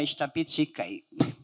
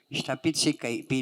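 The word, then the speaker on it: ihtapit'sikaipi: Minapio isamia ishtapitsikeipi. This is what my dad would refer to it, the wall. Ishtapitsikeipi. When he's putting up the wall, ishtapitsikeipi. And I would spell it as IHTAPIT, glottal stop, SIKAIPI.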